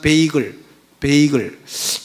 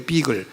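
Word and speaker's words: bagel: 넣은 떡, 오늘날로 치면 베이글. 그 우리나라는 베이글이라는데 그 영어는 발음이 비글이에요. 비글, B-A-G-E-L.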